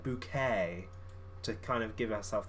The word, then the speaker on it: Bucket: would do for example her surname was bucket b-u-c-k-e-t but she pronounced it bouquet to kind of give